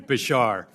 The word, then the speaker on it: Bouchard: Bouchard, am I pronouncing that correctly, by the way? More or less, Mr. Chairman. Bashar. Bashar. Well, in Rhode Island, it's Bouchard, but Bashar for the moment.